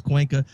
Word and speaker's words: Cuenca: Okay, so now I can say Cuenca. So I was pronouncing it Cuenca with the C, so I wasn't pronouncing it right. So now I know it's Cuenca. So Jeff, I got it